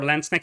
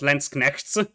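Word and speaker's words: Landsknechte: say more about like more land snake it's not lens connects because that sounds way too ugly it's like lens connected okay what's your opinion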